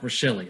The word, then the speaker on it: Rachele: I still like Rachele. I like the extra syllable there.